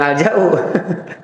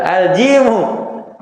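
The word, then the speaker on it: جيم: Ja apa? Jangan bilang al-ja'u. Ja apa? Huruf ja namanya apa? Subhanallah, balik lagi TK nih. Ja apa namanya? Jim. La haula. Al-jimu.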